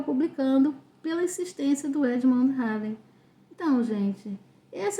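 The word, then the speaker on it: Halley: Aí entra uma figura também conhecida, né, que é o Edmund Harley. É aquele, né, do cometa Ry. Então, às vezes o pessoal pronuncia Heiley, né?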